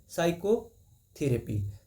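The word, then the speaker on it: psychotherapy: silent in the word साइको थेरेपी साइकोथेरेपी में देखिए पी नहीं बोला जा रहा है स से बोला जा रहा है साइकोथेरेपी इसमें पी साइलेंट है पी दिया है सी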